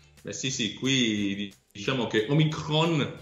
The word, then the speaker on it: Omicron: Beh sì, qui diciamo che Omicron, come la chiamano qui con l'accento sulla O, fa paura come in Italia, quindi sono tutti chiusi.